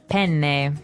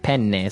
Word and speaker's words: penne: pronounce uh we said penne in uh in English in American English but in proper Italian it would be penne penne so you you double pronounce the consonant what about fettuccine oh